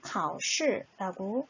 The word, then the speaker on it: 考试: 얘는 임용고시, 검정고시, 사법고시 할 때 바로 그 고시를 중국어로 읽었을 때 바로 考试라고 발음이 나와요.